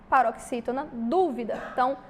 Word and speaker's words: dúvida: é o quê Pro paroxítona dúvida então a sílaba tônica sílaba mais forte é a antepenúltima beleza e matemática também